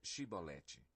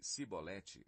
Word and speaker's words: chibolete: Se respondesse que não, diziam: "Então diga chibolete." Se ele dissesse cibolete sem conseguir pronunciar corretamente a palavra, prendiam-no e matavam-no Jordão.